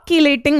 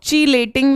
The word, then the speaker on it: chelating: सो कीलेटिंग या कुछ लोग चीलेटिंग भी बोलते हैं, आपकी मर्जी, आपको जो प्रोनाउंसिएशन अच्छा लगे आप वो कर लो। कीलेटिंग, चिलेटिंग, जैसे कुछ फंगाई, फंजाई बोलते हैं, तो उस हिसाब से प्रोनाउंसिएशन मे वेरी।